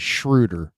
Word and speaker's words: Schröder: just because you know there's no reason that it shouldn't be Schroeder it should be Schroeder uh but he pronounces it as shrewder so I'm just gonna